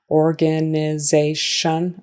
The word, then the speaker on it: organization: So even though it's an organ, we really don't say it like that in conversation. We say it like organ. Organization. Again, with a tion sounding like shun.